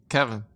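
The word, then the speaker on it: Keven: called the army okay my name is spelled k-e-v-e-n how do you pronounce that Kevin all right cool I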